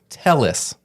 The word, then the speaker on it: Tellis: and this is important Tellis his name was Tellis that's how he'd say it that's how he'd say it all the time Robert Tellis not